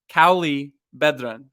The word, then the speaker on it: Cauli Bedran: a conversation everyone let's dive in and welcome Kali bedren thank you for joining Cali you nailed that pronunciation Grant well done that was yes love